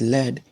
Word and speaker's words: lead: are lead and Lead when it is pronounced as Leed it is referring to a certain type of metal and then the same spelling are pronounced as lead which means taking in charge of the group but in order to